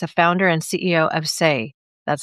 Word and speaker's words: Saie: My guest, Laney Craell, is a founder and CEO of SE, that's spelled S A I E, a brand that's redefining what clean beauty means.